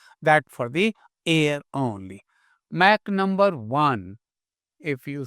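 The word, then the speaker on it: Mach: Mac number Mac M A C H it's not match remember M A T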